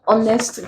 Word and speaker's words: honest: here becomes hospital if the word honest the H is silent is not pronounced in the word church